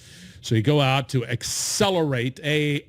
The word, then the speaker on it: Xcelerate: a conference right here's a conference called accelerate 20 that's spelled with an x right so you go out to accelerate a x c e